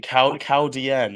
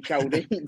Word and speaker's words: Chaldean: Chaldean, that's the pronunciation I can on lockdown, yeah. But I think all the trainers, bar Andrew Bolden, are still saying Chaldine.